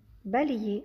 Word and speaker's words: balayer: Balayer, ça s'écrit balayer, mais le Y qui fait le son I aussi, donc aknusu.